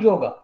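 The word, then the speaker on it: योग: universal self is called yoga. If we go to a remote village of India, if we ask about yoga, yoga is a Western word, but in India it is pronounced like yog.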